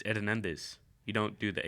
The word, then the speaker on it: Hernandez: you'd that sounded way you made it sound like your last name was air nandez and it starts but it starts with an H yeah the H is silent what it's Hernandez you don't do the